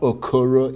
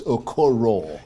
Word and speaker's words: Okoro: It's not Okuro, it's Okoro.